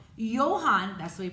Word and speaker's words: Johann: Johann, that's the way you pronounce that name, Johann Bach, a devout Christian, was also a famous composer.